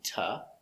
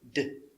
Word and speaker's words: to: Now with the to, you can pronounce it ta. I told her to make her lunch. Or you can use it d. I told her to, with a D sound.